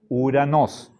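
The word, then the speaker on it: οὐρανός: no leemos esto u ni O sino u uranos sí se pronuncia uranos ya bien Qué pasa con Con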